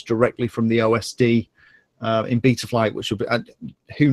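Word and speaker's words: Betaflight: I'm saying something wrong everyone tells me I'm saying beat a flight wrong and it should be beta flight I say BT rpm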